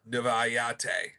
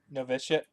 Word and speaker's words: Novitiate: Novayate. Novitiate. Yeah, I think that's the correct way to spell it. To say it. And I then guess it's like Initiate, but with a Nov instead of an N.